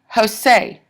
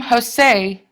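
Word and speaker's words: José: And a lot of names are actually iambs, like Jose or Tien or Ivan. The stress is on the second syllable. If the name Jose is a foot, then that foot is an iamb.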